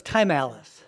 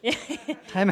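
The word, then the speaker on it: Thymallus: Oh, so it's Thymalis. Thymalis.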